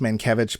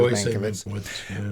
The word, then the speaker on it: Mankiewicz: Mankiewicz, or it probably is pronounced Mankiewicz, but I think it's always been pronounced here Mankiewicz, wanted this to be 2 movies, which together would run about 5.5 hours.